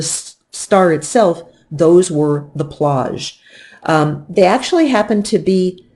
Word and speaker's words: plage: Another thing you're going to see on the chromosphere is plage. Now, here's another word I'd like you to say after me, which is that word plage. Plage rhymes with the word snaz, and that's why I